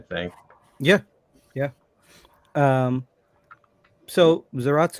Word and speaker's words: Zaratsu: yeah yeah um so zaratsu is a very interesting outlier it's a it's a japanese pronunciation of zalas and it's become its own thing it's ratsu um keeping